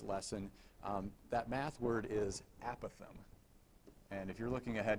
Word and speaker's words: apothem: That math word is apothem. And if you're looking ahead in your notes, you probably see that under the definitions. Apothem is the correct pronunciation of the word, but